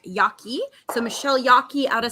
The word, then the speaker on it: Jaeggi: and I must apologize I've pronounced Michelle's last name it's Yaki so Michelle Yaki out